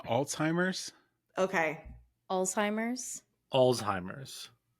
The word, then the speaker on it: Alzheimer's: so are you saying Alzheimer's Alzheimer's like tell me how how are you pronouncing this I'm saying Alzheimer's okay Alzheimer's Alzheimer's Alzheimer's with a z or a t alz alimer okay that's how I